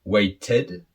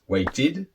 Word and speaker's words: waited: far so good now how do you pronounce these three different words is it way ted la ved were kid no of course not doesn't sound good so how do we pronounce these words so the first one is weighted the second one loved and the third one worked so you can see